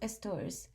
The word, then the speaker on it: TRS: the human rights framework the tool registry service trs pronounced estors is a standard api